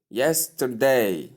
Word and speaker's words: yesterday: Yesterday. Yesterday. Can you speak? Can you say this after me? Yesterday again. Yesterday. That's great. So stress is placed on the first syllable.